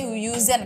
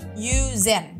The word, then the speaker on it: yüzen: Jadi kalau yang ada titik 2 di atas pokoknya bacanya mulutnya harus monyong. Jadi misalkan kan kalian mungkin bacanya yüzen kan, tapi harusnya dibacanya yüzen. Jadi bibirnya monyong. Yüzen, kemudian al itu biasa